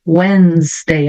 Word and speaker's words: Wednesday: Vamos só lembrar aqui da pronúncia de Wednesday, ó. Eu não pronuncio esse D, então vai ficar Wednesday.